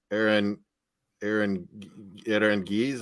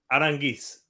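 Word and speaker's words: Aránguiz: That Aaron Gies. I first say it wrong. Aranguiz.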